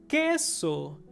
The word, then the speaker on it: queso: next one for example queso which means cheese queso however we don't pronounce the letter u in in only in